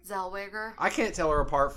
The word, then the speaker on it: Zellweger: Zellweger.